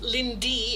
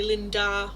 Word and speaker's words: Lindee: Like a lot of people mispronounce my name because Lindee is not really a common name in Netherlands. So they often say Linda or something like that where it